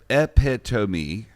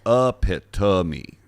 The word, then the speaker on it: epitome: people are saying it wrong it's people say epitome but it's pronounced epitome oh so they're just putting the the wrong